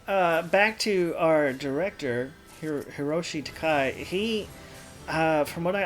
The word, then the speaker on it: Hiroshi Takai: who makes statements and if i'm saying his name right is hiroshiya yoshim i think it was um hiroshi takai hiroshi takai is correct yes i may have